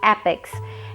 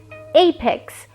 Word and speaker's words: apex: Because most of us pronounce this word in a wrong way. It's not apex, and also I'm not talking about shoes. It's apex, and it's a noun.